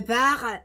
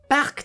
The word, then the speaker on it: Park: Et pour finir, le par Chan. Oui, alors c'est Park Chan, mais le cas il se prononce à peine.